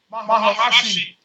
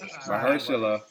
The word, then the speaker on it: Mahershala: Maharashi. There we go. I knew he was gonna say Masachi Ali. Yeah. Mahershala.